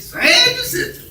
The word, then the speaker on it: San Jacinto: San Jacinto.